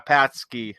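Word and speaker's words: pączki: I must have said it wrong. It's they're Patsky. Okay, Patsky. You said it's like PACZ.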